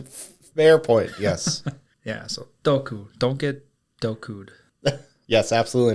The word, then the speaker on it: doku: And poison is doku. Doku is spelt D-O-K-U.